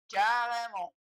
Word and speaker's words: carrément: Muitas letras no final das palavras a gente não pronuncia. Uma delas é o T. Então, o T a gente não pronuncia quando ela está no final da palavra. Um exemplo é essa palavra aqui, carrément.